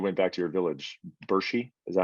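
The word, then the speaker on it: Burshi: I watched a little video of like when you went back to your village, Bershi.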